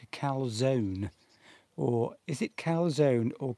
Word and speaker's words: calzone: Do you pronounce the E? Is it calzone or just calzone? It's probably calzone. So number one, calzone. Number two, calzone. See, I've heard it pronounced both ways. I have. So is it one or two? Francesca, please tell us. We're paying a lot of attention to Francesca today, of course. Oh, it's number two.